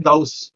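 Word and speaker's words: Gauss: इसके बाद गाउस theorem, हम नॉर्मली इसको गॉस बोलते हैं बट प्रोनाउंसिएशन जो है इसका वो है गाउस।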